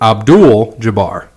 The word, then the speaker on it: Abdul-Jabbar: And So he handled Kareem Abdul-Jabbar. What's up with him? What's his name? Kareem Abdul-Jabbar. Say it again. I said it already twice. You were wrong both times. Okay, then you say it. Kareem Abdul-Jabbar.